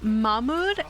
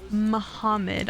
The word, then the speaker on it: Mahmoud: actually is interested in his name is mahmoud not muhammad i was pronouncing it wrong i apologize i'm sorry